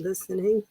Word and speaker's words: listening: of these final letters listening itself the word listening thanks fellaini yes the tea is silent good the internet all